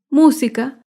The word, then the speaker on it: música: antepenúltima sílaba por ejemplo la palabra música música se acentúa en la antepenúltima sílaba música todas las palabras